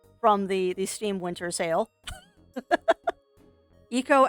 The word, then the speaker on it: Eco: Echo. I think it's pronounced Eco, because Echo is a dolphin.